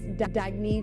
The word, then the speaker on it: Dagne: oh it's pronounced dagney do Dagny means new dawn it's a new